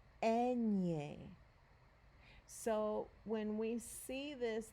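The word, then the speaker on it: eñe: letter here is called enye enye so when we see this the letter n is gonna sound more like the ny in the english word canyon that's how you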